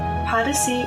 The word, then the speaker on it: Podyssey: Podyssey is Odyssey spelled with a P. Podyssey.